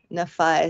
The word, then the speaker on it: Nephi: a comment in here pronounced Nephi with a long I Nei so you know I've